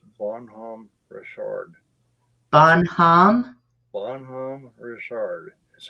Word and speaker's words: Bonhomme Richard: gonna correct him on one thing it's not about homie it's bonhomme richard bonhomme bonhomme richard is how it's pronounced on palm richard it's french but yeah